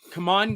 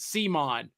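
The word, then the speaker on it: CMON: So this was provided to us by Come On Games. I'm not going to pronounce it the way other reviewers mispronounce it. They pronounce it Simon. No, that's come on.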